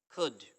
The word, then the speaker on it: could: Next comes could, could, could, okay, could, मैंने एच लिख दिया यहाँ पर ताकि आपको आसानी हो जाए, के नहीं पढ़ा करें, खे पढ़ा करें, could, could, एल साइलेंट इधर।